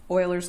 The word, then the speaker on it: Euler: on boilers method and it is spelled totally differently than it sounds I don't remember the mathematicians first name but his last name is Whaler so Euler's method not Euler's method people will laugh at you Oilers method and what whalers method